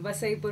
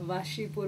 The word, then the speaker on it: Wasseypur: देखा मैं जिससे पहले कि मैं गलत बोलती हूँ यहाँ पे मुझे स्नेहा ने ही करेक्ट कर दिया. वसईपुर बोलते हैं, वासीपुर बोलते हैं. क्यों है ये confusion? I know, in fact उसका स्पेलिंग भी बहुत इंटरेस्टिंग है. डब्ल्यू A double S ई वाई पी यू are, right? और वहाँ पर भी ऐसे ही लिखा होता है, वासीपुर.